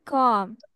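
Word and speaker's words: comb: কম কি বলতে হবে কম মানে বি এর উচ্চারণ করা যাবে না বলতে হবে কম কি বলবা কম আই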